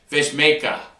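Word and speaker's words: Vejmelka: The Vemeka kid, I don't know if I'm saying his name right. You know what? Let's get a better pronunciation of this goalie.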